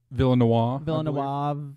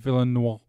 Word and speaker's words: Villeneuve: Villeneuve, however you say it. I think it's like a French, dead on the end. Villeneuve.